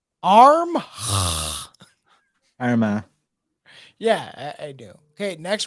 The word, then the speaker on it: Armagh: Armagh. Yeah, I do. Okay, next one. It rhymes with syndrome.